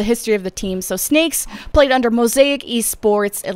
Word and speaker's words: 6nakes: to actually pronounce it it's not six snakes or six snakes it's just snakes and they are the